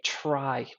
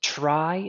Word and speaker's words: trie: we're gonna Implement a try next and it is pronounced try not tree for the sole reason